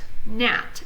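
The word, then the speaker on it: gnat: Jesus oh sorry guys the G is silent so not NAT and the NAT is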